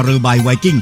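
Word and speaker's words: เรือใบไวกิ้ง: ไป ดู ที่ กระสอบ ที่ เขา เขียน ว่า ตรา เรบ ไวกิ้ง อ่าน ว่า ตรา เรือ ใบ ไวกิ้ง เท่า นั้น แหละ ก็ จะ ได้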